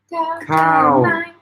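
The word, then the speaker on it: ข้าว: Cow. Cow is falling.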